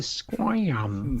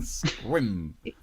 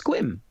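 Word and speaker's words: Sequim: Have you been to Squam? Squim. It's Squim.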